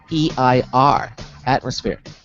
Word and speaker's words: Atmospheir: Ben and I are talking to the founder and CEO of Atmosphere, and that's spelled Atmospheir. Atmosphere. Sphere, as in circle of friends, social, atmosphere.